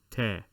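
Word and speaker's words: تاء: a smiley emoji and in english it will be written as so te that mirrors the t in english so we will erase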